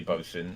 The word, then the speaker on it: bosun: it actually That's one pronounced nice bosun? cock. Bosun. Yeah, it's both. It's actually bosun.